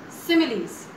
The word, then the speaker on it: simile: actually in this exercise we are learning about similes now you can see here s i m i l e this is pronounced as simile now what is a simile